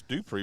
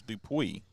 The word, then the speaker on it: Dupree: strikes now I wonder you said it's Dupree but I know some folks pronounce it differently as Dupuy well it's d-u-p-r-e-e and my boss is Dupree so I'm going with Dupree that one messes up